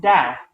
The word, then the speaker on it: Tao: It's not Tao. It's Tao.